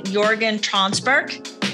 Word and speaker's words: Jörgen Tranberg: I want to say hi to Jörgen Tranberg. Am I saying that right, Jörgen? Yeah, you actually pronounced it perfectly, so thank you.